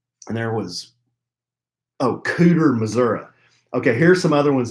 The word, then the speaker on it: Missouri: podcast again she says it is definitely pronounced Missouri yeah she's reiterating not Missouri also a few other